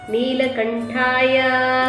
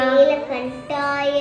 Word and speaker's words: நீலகண்டாய: Okay, மிருத்யுஞ்சயாய மிருத்யுஞ்சயாய ருத்ராய ருத்ராய நீலகண்டாய நீலகண்டாய நீலகண்டாய, second டா வரும் ஹிந்தி சன்ஸ்கிருத சவுண்ட்ல, ட நீங்க தொண்டையில இருந்து உச்சரிக்கணும், நீலகண்டாய நீலகண்டாய, சம்பவே சம்பவே, அமிருதேஷாய அமிருதேஷாய, சர்வாய சர்வாய மகாதேவாய மகாதேவாய, தே நமஹ தே நமஹ.